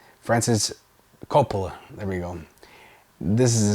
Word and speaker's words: Coppola: I'm sorry, I just butchered his name. Francis Coppola.